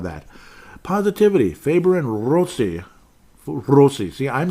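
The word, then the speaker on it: Rossi: with some of that positivity Faber and rosi rosi see I'm saying it correctly Marco so I'm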